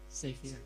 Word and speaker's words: savior: Pronunciation true? Severe. Savior.